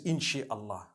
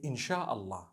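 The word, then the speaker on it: إن شاء الله: Inshi means to create. No one says inshi Allah. They say inshaAllah.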